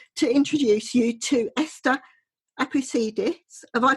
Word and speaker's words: Esther Apoussidis: I would like to introduce you to Esther Apoussidis. Have I pronounced it right?